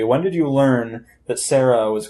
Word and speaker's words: Cera: It's because of how they spell it. C-E-R-A. Yeah, see, Sarah.